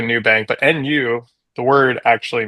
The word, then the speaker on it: Nubank: It's spelled NU bank, but so it sounds like a New Bank, but NU the word actually means naked in Portuguese.